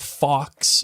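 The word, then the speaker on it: Fawkes: to call this out Fox is spelled f a WK s yeah which okay there's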